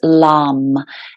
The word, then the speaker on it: LAM: Mantra three times so the first Mantra is LAM l-a-m but it's when you kind of sound